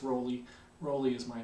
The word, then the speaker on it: Rowley: My name is Professor Rowley. That's spelled R-O-W-L-E-Y. And there are people that spell the name the same way as me but pronounce it as Rowley or Rowley. There are a lot of those folks around, so I'll respond to anything if you do happen to see me in person sometime this semester and